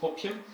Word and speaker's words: OPM: We pronounce it opium because it's really addictive to spend other people's money.